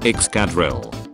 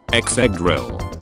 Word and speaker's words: Excadrill: Oh, I think it's pronounced Excadrill. Map, Exegrill.